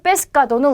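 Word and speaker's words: pescado: 자, 그다음 페스카도는 우리 생선이에요. 그래서 여러분 메뉴판에서 볼 수 있는 단어고요. 여기 있는 발음까지도 좀 같이 체크를 하실게요. 자, 세 다음에 아가 왔기 때문에 까로 발음이 되겠죠. 그래서 페스카도 하게 되면 생선을 뜻합니다.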